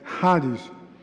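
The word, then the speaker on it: χάρις: Então nós não temos no nosso alfabeto uma letra que reproduz esse som. Então a gente tem que usar esse, tá certo? E a gente sempre esclarece para que a pessoa não faça a pronúncia errada de uma palavra dessa. Então é haris.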